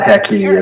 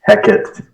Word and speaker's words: Hecate: Yeah, so it's actually not Hecky, it's Hecate, because I'm trying to correct his ancient Greek if he's going to be speaking.